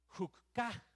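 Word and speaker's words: חוקה: las ordenanzas en hebreo esa palabra es hukka así así se pronuncia y lo que significa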